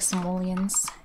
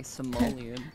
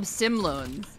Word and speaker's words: Simoleon: I've never been able to pronounce that word correctly. Simoleon. Is that what it's called? I always call them Simloans. Simloans. Like, I like that. Simoleons.